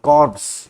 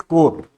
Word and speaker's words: Corps: you know corpse of engineer it is not corpse it is written as Corpse but pronounced as core core of engineers calendar Awards are passion Armed